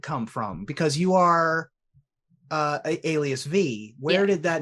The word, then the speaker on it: Alias: So I said, if I ever need to explain my name to someone, it's like, how do you say this? Elid, idle? No. Alias. Just take the S off the end.